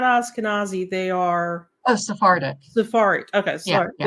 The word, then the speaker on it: Sephardic: Sephardic.